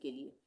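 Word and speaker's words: clue: क्लू सी एल यू ई क्लू। एस यू ई सु यहां पर सब में बड़े ऊ का उच्चारण हुआ है।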